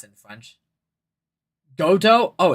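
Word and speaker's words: Godot: Yes, Godo. Legendary prosecutor. I've never lost a case. No, your pronunciation of his name is right.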